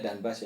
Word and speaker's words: Donbas: Ya sejak 2014 tuh dia nggak pernah main di stadion kandangnya dia di Donbas Arena bacanya Donbas ya. Oh itu kalau di Ukraina bacanya Donbas Arena.